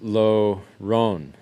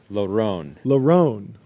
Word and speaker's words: Laurent: Mark says it's Laurent. Larone. It's not Laurent.